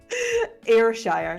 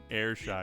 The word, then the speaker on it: Ayrshire: How do I pronounce it? Ayrshire. Believe it or not. Ayrshire.